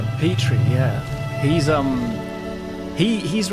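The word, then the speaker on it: Petrie: Petri.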